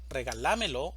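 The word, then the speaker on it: regálamelo: Regalámelo es una palabra de 5 sílabas, una sílaba tónica y 4 sílabas átonas. La sílaba tónica va a estar en la. Regalámelo. Regalámelo.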